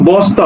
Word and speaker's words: বস্তা: হবে স্নান স্নান হবে দেখো বস্তা দন্তস এর সাথে যুক্ত আছে কি ত অর্থাৎ বস ত আকারে তা বস্তা দেখো শ্লোক এই তালবস